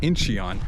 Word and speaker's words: Incheon: But really, Seoul and Incheon, it's the same city.